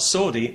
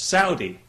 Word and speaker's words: Saudi: People have said to me, you know, you're pronouncing that wrong. It's not Saudi, it's Saudi.